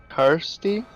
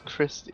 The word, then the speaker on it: Kirsty: Kirsty. Kirsty. Yeah. Okay. I thought it was Christy.